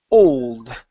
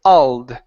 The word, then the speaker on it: old: Now here you said old, pronouncing an all. Instead of ah, it's o. Old. The old building. Good. So the skeleton of the old building. Give me more O sound first.